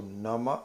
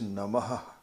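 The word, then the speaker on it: namaḥ: a syllable so the visarga is something which you you enunciate with the breath with a conscious effort to have the breath so nama otherwise it will be nama but here's namaha so the her is the aspiration so that's called visarga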